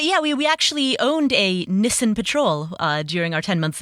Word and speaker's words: Nissan: The car, Nissan, was Nissan over there.